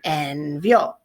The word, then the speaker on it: envió: So envió, preterite there. So llamó and envió. Accent on the O's, accents on yo and el, yo and el, yo and el.